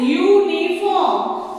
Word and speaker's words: uniform: It starts with a vowel, that is U, but the sound that comes while pronunciation is of Y, that is uniform.